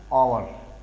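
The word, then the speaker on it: hour: जैसे हम एग्जांपल देख सकते हैं, एन ऑनेस्ट बॉय, ऑनेस्ट, तो वॉवेल साउंड है, एच साइलेंट है यहाँ पे, ऑनेस्ट, यहाँ पे एन is right, an आवर, आवर, आवर means घंटा।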